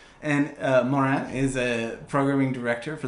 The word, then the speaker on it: Maurin: It's Maurin. How do you say that? Maurin.